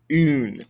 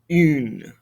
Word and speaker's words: une: Une. Again, pay attention to that pronunciation. Une.